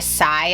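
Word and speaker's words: Tsai: company is named Victoria Sai I believe you pronounce her name I will leave it in the bottom screen here uh it's TS AI a little background into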